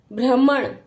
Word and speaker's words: भ्रमण: नीचे है तो ग्राम भ्रमण भ के नीचे है पदेन की मात्रा तो भ भ्रमण भ्रमण 15 यानी कि